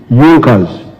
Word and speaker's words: Junkers: However, there was a strong business with Europe in Prussia known as Yonkers. It is written junkers but they pronounced pronounce it junkers that saw the importance of a united German market.